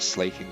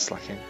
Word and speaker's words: Slaking: Pokemon next Pokemon is slacking or slaking however you want to pronounce it with the official pronunciation slaking but I've always called it slacking slacking is the most